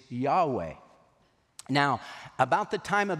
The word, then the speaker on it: Yahweh: letter letters and we the best we can come up with is YH wh is Yahweh now about the time